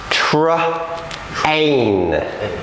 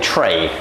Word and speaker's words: train: Okay, but because we need to do this properly, it's train. Okay? Train. Because if we say it wrong, we end up saying tray.